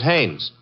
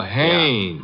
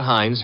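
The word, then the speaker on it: Haines: His name is Hannes.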